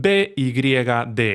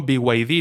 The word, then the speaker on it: BYD: a su mayor competidor, BYD o BID, como lo pronuncie cada uno, BYD, con la pronunciación en inglés.